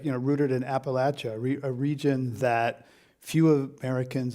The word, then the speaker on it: Appalachia: feels like, rooted in Appalachia, a region that few Americans honestly visit or understand. Yeah. So how Or important? know how to say, right? Right. Did I say it right?